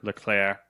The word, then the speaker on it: Leclerc: ] French last name look clear LeClair but it's it's spelled like Leclerc it's gotta see at the end but it's you know it's you know silent so it's like LeClair or whatever Ferengi's he